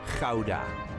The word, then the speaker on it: Gouda: This is the way us Dutchies say Gouda, not Gouda.